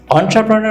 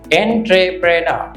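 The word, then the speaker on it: entrepreneur: শব্দটা লক্ষ্য অন্ট্রাপনার অন্ট্রাপনার উদ্যোক্তা অন্ট্রাপনার অর্থ হচ্ছে উদ্যোক্তা লক্ষ করুন স্পেলিং ট্রিকি স্পেলিংটা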